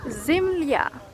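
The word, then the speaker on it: земля: So for example, zemlya means earth or something, and this ya letter at the end turns to a, so a sound, and the consonant before it, the l, is softened, so li.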